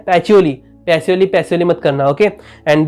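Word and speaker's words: Pacioli: एंड कुछ भी होगा, प्रोनाउंसिएशन हो, जैसे आपको बोला था कि पैचियोली, बहुत लोग पैसियोली करते, नहीं पैचियोली।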